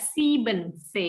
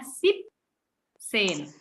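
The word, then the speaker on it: siebzehn: Kemudian yang spesial ini adalah di angka 7. Angka 7 itu dia tidak siben tetapi hanya sip sen sip sipnya agak panjang ya seperti di angka siben sip sen kemudian ah sen noin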